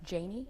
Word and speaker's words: Janie: And it's pronounced Janie? Janie.